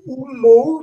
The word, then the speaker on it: Ummo: L'autre compte, c'est Umo, donc toujours prononciation phonétique anglaise, Toa, qui veut dire Umo, c'est leur planète, qu'on écrit Oumo en français, et Toa, c'est histoire, histoire de Umo.